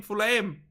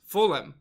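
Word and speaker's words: Fulham: is silent and fool him what the hitch is silent FHA FHA what full full full aim full aim oh I'm saying it wrong full aim full full what is it the the hit what fulam fulam what do you say it like that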